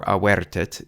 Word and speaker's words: avertit: The accent for avertit is on the E syllable, which is the beginning of the foot, and the accent is